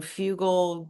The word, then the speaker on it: Fugal: Fugal. Brendan Fugal. I have to keep remembering it. Remind rhymes with bugle.